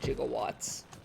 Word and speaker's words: gigawatts: want to get 1.21 gigawatts uh because of back to the future which as we all know they pronounced it jiggle watts and that just delights